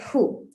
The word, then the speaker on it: Hu: It's just the name with 2 letters, H-U. And we pronounce it like who.